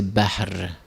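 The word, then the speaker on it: بحر: Muharram, la prononciation en arabe on dit c'est Bahr.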